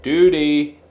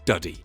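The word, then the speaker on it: dudhi: Doody. Doody. Howdy. Right, the elephant in the room here is that I thought this was called a doody, but it turns out it's pronounced duddy.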